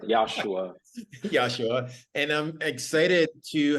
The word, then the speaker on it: Yashua: he does it you know yasua am I pronouncing your name correctly yosua like josua exactly that's correct yosua yosua and I'm excited to have josua is